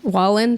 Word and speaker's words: Wallen: some way also I've never heard of Morgan whan more so because Wallen thank you can't even say his name Jeepers